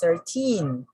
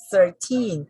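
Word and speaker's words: thirteen: But if you're just going to change this word and we put teen, the stress falls on teen. So we say 13, 13.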